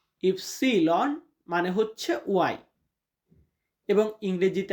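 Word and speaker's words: ipsilon: ইস ইস মানে এক্স ওয়াই কে Italian উচ্চারণ হয় ইফসিলন। ইফসিলন মানে হচ্ছে ওয়াই।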